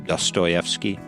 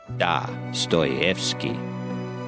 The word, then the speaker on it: Dostoevsky: Apologies to my wife Pamela for mispronouncing Dostoevsky. I've been pronouncing it wrong for years. Old habits die hard. It's actually Dostoevsky.